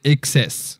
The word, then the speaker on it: XS: les excès voilà donc XS ça fait XS sur le prononce à l'américaine ça fait exprès au